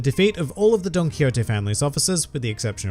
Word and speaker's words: Don Quixote: And yes, it is pronounced as Don Quixote. I know a lot of you like to giggle in the comments section because it sounds like donkey, but there it is.